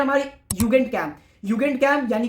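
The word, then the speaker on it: Jugendcamp: फिर है हमारी युगेंट कैंप। युगेंट कैंप यानी कि यूथ कैंप। अब युगेंट कैंप मत पढ़ देना। जे की साउंड वाई से प्रोनाउंस होती है जल रही है।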